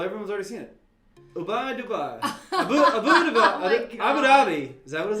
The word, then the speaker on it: Abu Dhabi: Like you say it together, like Abu Dhabi. Abu Dhabi. So I guess the H is silent. Or it's like No, say it. Dhabi, not da. There's a ha in it.